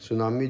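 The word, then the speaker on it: tsunami: सुनामी जो वो एक जैपनीज वर्ल्ड है। इसमें टी साइलेंट होता है।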